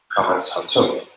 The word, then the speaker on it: Qames-Hatuph: This is the long A, This is the short O, pronounced A, Qames-Hatuph.